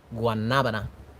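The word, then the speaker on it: guanábana: was guanabana no guanabana guanabana the the accent is on the a in the middle anyway you guys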